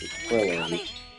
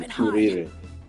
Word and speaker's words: Krillin: Yeah, I was about to say, in the dub, he's Krillin, but in the sub, they pronounce his name Kuririn, so...